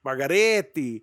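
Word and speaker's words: Margheriti: say it again and he says it in Italian say it with a lot of emphasis margariti well the [ __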